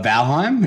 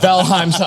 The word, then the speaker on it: Valheim: game i'm sorry but bellheim is better he says valhein for some unknown reason i don't know why it's clearly an m at the end those guys listening to